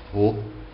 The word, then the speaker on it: Rho: A resistividade, que é representada pela letra grega Rho, se pronuncia assim mesmo, Rho, a resistividade é específica de cada material.